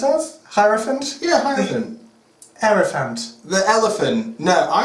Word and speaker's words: Hierophant: Is that what it's pronounced as? Hierophant? Yeah, Hierophant.